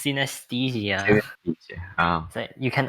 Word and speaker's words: synesthesia: Was it Pronounce it again. synesthesia? It's synesthesia.